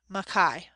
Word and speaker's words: Mackay: a Scotchman named alexander makai he pronounced his name Mekhi he wrote from Germany